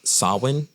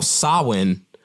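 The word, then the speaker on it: Samhain: this ancient roots in the Celtic Festival of sawin it's pronounced it's spelled it's crazy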